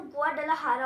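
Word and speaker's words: Guadalajara: Actually उसको लिखते हैं गुआडालाजारा है, लेकिन जो उसका प्रोनाउंसिएशन होता है वो गुआडालाहारा होता है।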